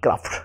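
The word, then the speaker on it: craft: সি আর এ ক্রা এফটি, ক্রাফট, উচ্চারণটা হবে ক্রাফট।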